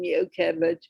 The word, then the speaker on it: Yocheved: Thank you, Yocheved. Am I getting closer to the pronunciation of your name, Yocheved? Yes, that last one was perfect.